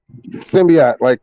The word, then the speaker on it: Symbiote: Symbiote, like Spider-Man.